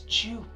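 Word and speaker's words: Joop!: Jupe Home, or wherever you guys may be in America or so, you guys call it Yope. It's Jupe. I think in Germany they even pronounce it Yope.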